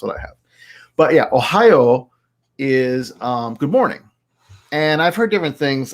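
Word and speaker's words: ohayō: here ohio so it's basically like ohio the state right uh but with a long o at the end so ohio um and so this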